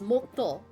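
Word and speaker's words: もっと: If you have a double consonant like that, it signifies like a slight pause like moto, not moto, moto.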